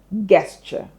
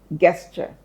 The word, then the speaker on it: gesture: You might be tempted to pronounce this word as guesture, right? Gesture. However, take a look at the transcription. Yeah, this time around, uh, there's a lot of confusion, right? some strange looking symbols. Let's not go into that. But note that the first two symbols you see combine to give us J. J. That's the sound of letter J. J. Okay. So, telling you that the G in gesture is pronounced as J, not G.